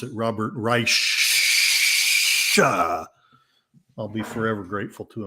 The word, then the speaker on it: Reich: And also for introducing me to the fact that you need to pronounce it Robert Reich.